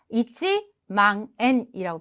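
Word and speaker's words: 一万円: 반드시 일자를 표기해서 이치망엔이라고 표기를 합니다.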